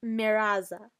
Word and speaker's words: mirage: M-I-R-A-G-E is pronounced miraza, said Valancy shortly, picking up her tea and beans.